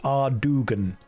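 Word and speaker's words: Ardougne: It's pronounced Ardugan.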